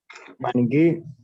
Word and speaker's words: maniquí: Maniquí. ¿Qué? Perdón. Maniquí. Maniquí. No, maniquí tiene terminación tónica.